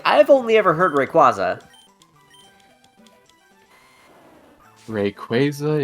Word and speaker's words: Rayquaza: Rayquaza is the the uh Oakuan company's official pronunciation for it.